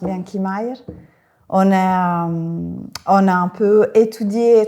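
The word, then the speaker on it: Bianchi Majer: On va prononcer à l'italienne. Bon, je présente, c'est Marta et Lorenzo de l'agence Bianchi Meyer.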